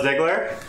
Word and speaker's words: Ziegler: Ziegler hello yeah my name is Ziegler rhymes with wiggler yeah which is also